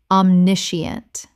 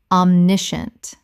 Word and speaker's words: omniscient: Common mispronunciation, omniscient. Correct pronunciation, omniscient. Three syllables in natural speech. The scient collapses to shunt.